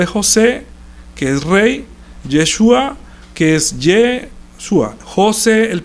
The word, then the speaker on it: Yeshua: Porque ellos Yeshua no la pueden pronunciar como la ñ. Entonces para ellos era más fácil decir Jesús.